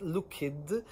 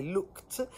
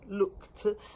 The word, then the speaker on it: looked: find a word like looked and read it looked, because you'll be picking up wrong pronunciation. But if you hear the reader in the audiobook say looked, you can then learn looked.